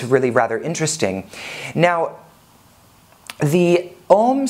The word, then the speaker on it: AUM: palatal sound and so it's more like a mm with the lips open that an unsound and